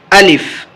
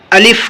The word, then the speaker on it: الف: گا۔ چلیے شروع کرتے ہیں۔ الف، اس کا تلفظ ہے الف، الف بھی نہیں ہے، الف بھی نہیں ہے۔ اسی طریقے سے اور جتنی بھی چیزیں پڑھی جائیں گی الف کے علاوہ وہ ساری کے سارے غلط ہیں۔